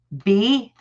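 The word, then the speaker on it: Bea: just the yes sorry that's how it's pronounced b yeah like a bumblebee well it's pronounced that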